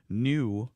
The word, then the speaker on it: Nue: That is New Vodka. It's spelled N-U-E.